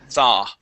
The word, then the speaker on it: thought: So, we want to say thaw instead of thought. Okay. Recurring thoughts. Recurring thoughts. Okay. All right. And with thoughts, you're saying thoughts. Okay. Uh, the o u g h makes an a sound. The word is thaw.